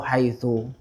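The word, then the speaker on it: حيث: Oh ini harakatnya harakat akhirnya ini haitsu dia bacanya apa Oh haitsu ya Sehingga enggak ada apa enggak ada kaidah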